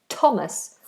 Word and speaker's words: Thomas: occasions usually with names the th becomes a t like the River Thames for example or the name Thomas or Theresa so I'm here I